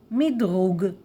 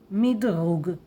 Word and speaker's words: מדרוג: Everybody will understand you, rating, but please say it in a Hebrew pronunciation, rating. Rating, rating, rating. And there is a Hebrew word, 100% word, midrug, midrug.